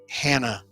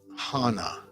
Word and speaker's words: Hana: listen here buddy anchor the name is not hannah it's hannah h-a-n-a a little respect for